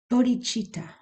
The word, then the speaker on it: bodhichitta: clear about the meaning but there's this term bodhichitta it's spelled b-o-d-h-i-c-i-t-t-a bodhichitta and this is um it